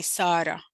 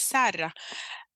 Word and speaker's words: Sarra: other arabic speaking countries my name is pronounced differently because I have a very uniquely Sudanese way of pronouncing my name so other Arabic countries might say Sarah for example but my mother says Sarah and it's hard I